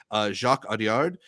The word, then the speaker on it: Jacques Audiard: I mean, it's the latest film from, I want to say it's pronounced Jacques Audiard, who, if you want